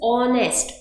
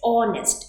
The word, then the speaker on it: honest: So here again it starts with a consonant, but sound wise it is honest, honest. It starts with O.